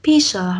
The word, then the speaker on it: pizza: Thế nhưng mà trong tiếng Anh ấy, rất nhiều người sẽ lầm tưởng nó đọc là pizza hoặc là pizza hoặc là cái gì đấy. Thế nhưng mà chú ý nhé, từ này đọc đúng phải là pizza. Pizza. Ok. Và âm y ở đây là âm y dài.